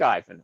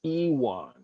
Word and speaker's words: Iwan: But I'll do the ad anyway because I like Ivan. Okay, even though we say his name wrong all the time, it's Iwan. It's spelled like I-won, but Iwan.